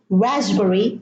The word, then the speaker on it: raspberry: It is cupboard, no P, raspberry, no P, and receipt, from receive, no P.